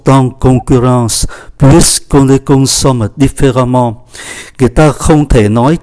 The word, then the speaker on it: différemment: Différent biến thành différemment, và chúng ta để ý cách phát âm là amant, différemment.